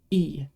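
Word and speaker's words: え: another character this is e it's always going to be pronounced like the sound in eat I guess it kind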